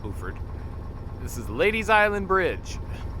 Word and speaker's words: Beaufort: of bord South Carolina We spelled the same as bord but they call it boord this is ladies Island